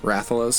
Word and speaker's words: Rathalos: Like Duck Hunt Dog fights, how do you say it, Rathalos? I'm not a big Monster Hunter guy. Rathalos, yeah.